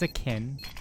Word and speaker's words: Akin: Why did I say it like it was Akinator? It's Akin. But not Anyway, akin to sorry about Akinator.